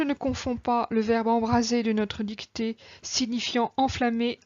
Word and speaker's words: embraser: Je ne confonds pas le verbe embraser de notre dictée signifiant enflammer, incendier avec ce S entre deux voyelles qui se prononce ZE et embrasser signifiant étreindre, enlacer avec ces deux S se prononçant SE.